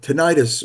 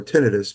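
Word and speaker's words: tinnitus: might not know uh tenius or tenus both both pronunciations are correct um is actually in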